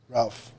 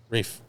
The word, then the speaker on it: Ralph: Ralph. Rafe. Rafe. It's It's Rafe. Fantastic actor. No, it's it's an L, but his it's pronounced Rafe.